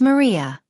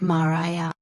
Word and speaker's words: Maria: For example, if your name is Maria and people are saying it like Mariah, you would say my name is Maria. It's pronounced Maria, not Mariah.